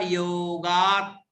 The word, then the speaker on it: योगात: लब्धि समयादि निमित्त योगात, आधा त तक पढ़िएगा। निमित्त योगात आधा त, क्योंकि आगे की लाइन में तत्रैव में 2 तय दिख रहे हैं तो आधा त पूर्व में आएगा।